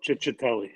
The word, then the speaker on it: Cicciatelli: Cicciatelli, or? Yeah, Chicky. there you go. Cicciatelli.